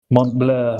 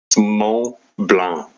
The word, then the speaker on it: Blanc: Even Jedi didn't say it right. Mont Blur or something cuz I'm English. Start pronouncing all city names and places in the accent that they were named in it. Um the closest M blah. Yeah. Assuming it's it's spelled B L A N C, right?